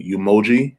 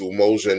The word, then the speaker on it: Umoja: a foundation up in new york um called emoji is how you pronounce it it's actually we say umoja but it's almost a network for young men